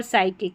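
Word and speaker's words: psychic: पी एस है और यहां पर पी एस बड़ी-बड़ी स्पेलिंग्स में अलग से स्पेलिंग्स में यहां पर पढ़ा जा रहा है। और एस को हम स पढ़ रहे हैं और पी साइलेंट है। इसलिए स पढ़ा गया है।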